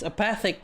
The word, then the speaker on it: apathic: It's apath It's apathic interval from apathy.